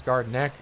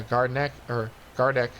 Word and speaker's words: Gardeck: I believe that's Dallas Gardneck. Yeah, Gardeck again. I keep saying his name wrong.